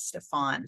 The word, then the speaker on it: Stefan: Is actually, I said Stephen and it's Stefan, so I apologize, but he's not here, but I should pronounce his name correctly.